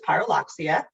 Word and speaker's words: Pyrrhuloxia: page and you're like how the heck do i say this but it is pyroloxia and we did put